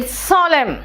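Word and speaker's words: solemn: था ठीक है ठीक है एन कहां कहा साइलेंट है देखो तो इ सोलम एन है लेकिन मैंने क्या कहा सोलम टम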